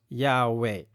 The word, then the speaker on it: Yahweh: Wikipedia แล้วเรามาเตียThe scholarly consensus is that the original pronunciation of the tetragrammatons was Yahweh.